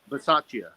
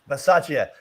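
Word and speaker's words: Bisaccia: Versace. Versace.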